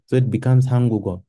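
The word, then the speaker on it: 한국어: Like this is hangugo, hanguk, and this G moves where the silent is.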